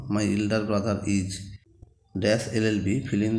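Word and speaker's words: LLB: article হলে ঠিক হতো এল এলবি এর উচ্চারণটা এল হচ্ছে তাই এটা হবে যে অ্যান এলএলবি question two Mount Everest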